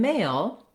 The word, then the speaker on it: male: So the E at the end makes the A say its name. That means A sounds like diphthong A. So in male, there's two elements to